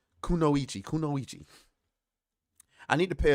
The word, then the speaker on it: kunoichi: make this uh nightmare says it's pronounced kunoichi oh I've heard that before I've heard that in anime actually so I don't know why I I couldn't get that right kunoichi kunoichi I need to